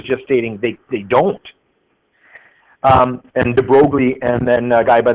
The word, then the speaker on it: de Broglie: I think you properly pronounce it de Broglie or something like that. But since we're in Petrolia, I pronounce it de Broglie. Since Dupuis are Dupies, then this guy's name is de Broglie.